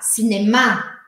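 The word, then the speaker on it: cinéma: em português cinema cinema o cinema em francês eu preciso colocar a sílaba forte no final e aí vai virar cinemar cinemar é o mesmo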